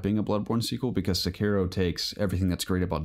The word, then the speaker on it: Sekiro: Also saw they pronounce it Sekiro. That's how they're pronouncing it. I was calling it Sekiro, but Sekiro: Shadows Die Twice, the next game from Software.